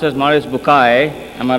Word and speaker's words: Bucaille: scientist and a scholar of quran dr maurice bukhail pronounced as maurice bukai am i right doctor doesn't matter okay he's